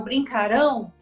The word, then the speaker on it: brincarão: É isso mesmo, brincarão, ó, a sílaba tônica tá aqui no ão.